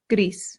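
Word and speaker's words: gris: up next Grease Grease this sounds just like the English word grease like the grease from a pan or like oil gree but in Spanish you have to slightly round that R so gree gree good and last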